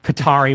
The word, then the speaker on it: Qatar: Qatar? Qatar. Well, it's like it's an Arab word. It has no vowels. It's like QTR. So it's like Qatar is how you would pronounce it, like Arabic.